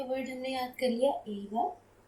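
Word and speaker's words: 映画: तो यहाँ पे वर्ड हमने याद कर लिया एगा। मैं ये वर्ड बोल रही हूँ तो आप ये नोटिस करेंगे कि इस वर्ड में जो ये ई है ऑलमोस्ट साइलेंट है।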